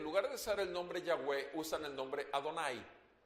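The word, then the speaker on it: Yahweh: vano ahora por supuesto el nombre ya ve a yagüe es la manera correcta de pronunciar el nombre que todo el mundo menciona como jehová porque así viene en la traducción más común de la biblia que tenemos en méxico entonces cuando hablan de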